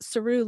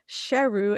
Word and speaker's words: Sheru: for the movie is saroo learns that all these years he had been mispronouncing his own name which was actually sheru s-h-e-r-u which means lion